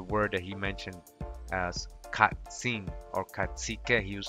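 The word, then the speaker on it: קצין: able to find this, which is katsin, right? And you can see the phonetic spelling katsin with a K, katsin.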